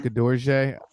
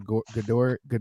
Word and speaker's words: Gadoury: So my last name's Gadoury, Gadoury, pronounced Gadorje, Americanized to a Gadoury.